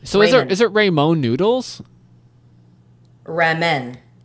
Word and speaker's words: ramen: the way we wanted to hey we can pronounce Ramon the way we want to reinvent it Raymond Raymond Raymond noodles Ramon no tea no d so is it rainbow noodles ramen it's ramen noodle yeah okay I think Ramona